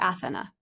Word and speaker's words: Athena: of course and congratulations on Athena do you pronounce it Athena or Athena Athena Athena okay that's what I thought so